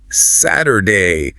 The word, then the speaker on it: Saturday: You might even hear the T soften to a D sound. Saturday.